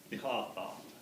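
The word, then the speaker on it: Nihʼoo3oo: So it's pronounced ni, stop, tha, niha-tha.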